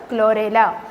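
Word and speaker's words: Chlorella: इसको क्या प्रोनाउंस करेंगे, क्लेमाइडोमोनास और क्लोरेला।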